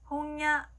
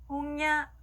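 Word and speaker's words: 本屋: 자, 서점이라고 하는 단어는요, 홍야라고 있습니다. 따라할게요. 홍야, 홍야. 네, 니은과 이응의 그 중간 발음으로 꼭 해주시면 되고요.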